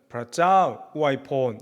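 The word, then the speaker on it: พระเจ้าอวยพร: 그래서 God bless you는 프라짜오 우아이폰 이렇게 합니다.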